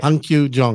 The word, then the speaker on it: Hung Kyu Jung: Before we came on, I checked how it's pronounced, and apparently it's Hung Kyu. Okay, Hung Kyu Jung.